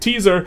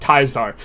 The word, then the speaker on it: Caesar: the game is named Project Teaser or if you pronounce it correct, Project Taisar.